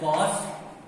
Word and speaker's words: cos: दूसरा होता है हमारा COS कॉस थीटा, इसको हम लोग बोलते हैं कॉस थीटा। तीसरा होता है हमारा टेन थीटा, इसको हम लोग बोलते हैं टेन थीटा। चौथा होता है हमारा कॉसेक थीटा, इसको हम लोग बोलते हैं कॉसेक थीटा।